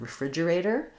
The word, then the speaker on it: refrigerator: So a clue is that we sometimes call a refrigerator just a fridge, and that's where the stress is. So we have refrigerator. So that means that the erator needs to be fast, and the r is not going to really be a re, it's just going to be a schwa or an I sound, refrigerator.